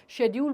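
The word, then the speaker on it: schedule: शेड्यूल बोला जाता था, आजकल उसको स्केड्यूल बोला जाता है। पोएम बोला जाता था, उसको पोम बोला जाता है। So what ever suits you आप वैसे बोल सकते हैं, दैट इज़ ओके।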